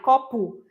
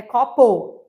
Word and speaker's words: copo: Então, por mais que eu escrev fale copu é copo que escreve com o no final, com o no final.